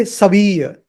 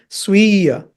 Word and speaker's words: स्वीय: So don't say saviya. It is sviya.